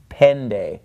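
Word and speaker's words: πέντε: followed by the knee it is pronounced more like an English D so instead it's not Penta it's pen day alright so enna vo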